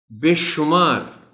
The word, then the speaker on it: بے شمار: خاص توجہ چاہیں گے۔ بے شمار شین پر پیش کا خیال رکھا جانا چاہیے.